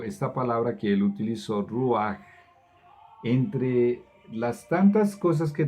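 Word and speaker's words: רוח: Dice, y el espíritu, esta palabra se escribe R-U con una cosita así encima, A-H, C-H. Se pronunciaría Ruach en español, en inglés se pronuncia Ruach.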